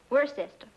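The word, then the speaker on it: Worcester: else too doc but it's spelled w o r c e s t e r where sister oh yes I see yes Lord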